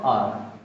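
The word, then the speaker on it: hour: डू you mind lending me योर book for अ आर। यहां पे देखिए थोड़ा आर का स्पेल, इसका उच्चारण देखिए।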